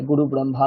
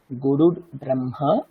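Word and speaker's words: গুরুর্ব্রহ্মা: সঠিক উচ্চারণ কিভাবে হবে দেখুন গুরুর ব্রহ্মা ওখানে একটা রেফ আছে আমাদের রেফের উচ্চারণ করতে হবে কি হবে গুরুর ব্রহ্মা গুরুর বিষ্ণু এরকম অনেকে বলে গুরু ব্রহ্মা গুরু বিষ্ণু এরকম না গুরুর ব্রহ্মা গুরুর বিষ্ণু গুরুর দেব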